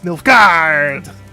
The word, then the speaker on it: Nilfgaard: On behalf of the Emperor of Nilfgaard. Actually, it's, if you want to say it properly, it's Nilfgaard! Because there's like plenty of A's in there, right?